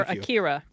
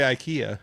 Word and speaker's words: Akira: Yeah, I'm gonna let you say it because I'm gonna say I think Akira is the is the mo is the correct way to say it. I'm gonna say IKEA and that's wrong and I as soon as I said that I'm like damn it.